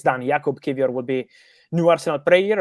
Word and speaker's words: Jakub Kiwior: Jakub Kiwior, I think it's pronounced.